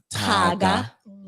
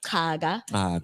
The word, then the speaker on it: Caga: So my mom's maiden name is spelled Caga, but it's pronounced Taga. Kaga. Your tongue on the roof of your mouth. Kaga.